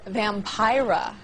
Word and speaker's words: Vampira: Now, so far we've met vampires who are totally out in the open about their lifestyle, but joining us now is Vampira. Rhymes with Tyra.